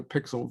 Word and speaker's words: Piskel: good for animating quick pixel art. It's called like let me get the name of it. It's PISKEL. I think it's supposed to be pronounced like pixel.